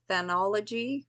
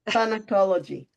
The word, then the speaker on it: Thanatology: And I do believe we'll need to have you back, because we want to talk more about thanology. Did I say it right? Thanatology.